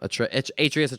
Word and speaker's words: Atreus: Atreus. I think he calls him Atreus. Atreus. That's how you say it. That's why Atreus sounded weird.